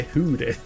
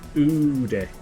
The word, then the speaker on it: Oodie: Did you just say hoodie? No, and oodie.